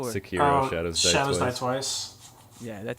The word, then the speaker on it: Sekiro: How do you pronounce it? Sekiro? Or? Sekiro, Shadows Die Twice.